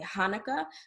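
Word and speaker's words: חנוכה: English, a lot of times people will say Hanukkah, but that H is actually representing the sound.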